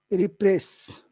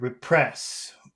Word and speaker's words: repress: When I say that word, repress, where is the accent? Is that on the first syllable or the second syllable? Repress. Second. Yeah. If you say repress, that means press again. But if you say repress, what does that mean?